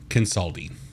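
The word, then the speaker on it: Kansaldi: the fire eyes with every encounter hype up Consulting uh actually let me look at the pronunciation guide see if I'm pronounced consulti fireeyes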